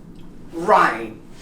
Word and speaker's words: rhyme: Or when there's just an R in the beginning. This one, rhythm. Rhythm. And here, rhyme. You don't pronounce the H.